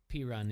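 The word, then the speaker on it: Perine: to pick up anything what's his last name p on p run but it's spelled p-e-r-i-n-e did you say peon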